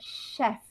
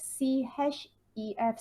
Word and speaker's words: chef: which is the word chef okay c h e f c h in english we read as sure not sure okay so it's chef not chef all right thank you